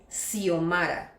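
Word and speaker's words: Xiomara: Dans ce cas il se prononce comme un « s », par exemple : silophone, sénophobie, sérographie, siphoïde, le nom Siomara, Sochimilco.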